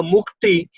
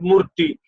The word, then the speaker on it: mukti: And Manishi told Baba to pronunciation of the mukti means liberation is difficult for her. That's why she said murti, not mukti, but murti.